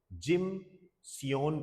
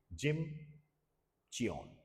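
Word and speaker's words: Gimcheon: जिम सियोन कह दो, चियोन कह दो, ये प्रोनाउंसिएशन होता है, जिम चियोन।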